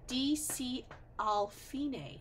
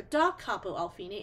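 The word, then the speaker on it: D.C. al Fine: page four we see DC alfine that's how we pronounce that it's Italian for DOT Capo alfine and that means we're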